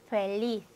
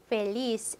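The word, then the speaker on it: feliz: 자, 그래서 스페인 사람들은 혀를 물고 영어의 TH 발음을 해주게 되기 때문에 스페인 스타일로 하면 소로, 소로. 스페인 스타일로 하면 페리스, 페리스. 자, 그런데 중남미 사람들은 혀를 물고 하는 발음을 하지 않고 그냥 S와 발음을 동일하게 한다. 자, 그래서 중남미 사람들이 발음하면 소로, 소로, 페리스, 펠리스. 요렇게 그대로 해준다는 거, 여러분이 스페인 쪽으로, 중남미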